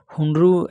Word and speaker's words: हुंडरू: हुंडू हुंडरू जलप्रपात जो कि स्वर्णरेखा नदी पर स्थित है रांची में है हुंडरू ऐसे बोला जाता है हुंडू लिखा है केवल यूनेस्को कलिंग